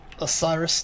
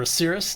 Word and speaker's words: Osiris: a little bit of a Osiris today or Aus depending on how you wish to pronounce it we are going